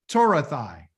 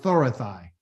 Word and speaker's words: Torathai: My statutes and my decrees, and my Torathai, okay? Pronounced Thorathai.